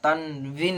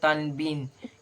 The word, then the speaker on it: তানভিন: তানভিন দুজে দুপেশকে আমরা তানভিন বলবো, অনেকে বলে তানবিন, কিন্তু না, এখানে তানভিন হবে, উচ্চারণ হবে তানভিন।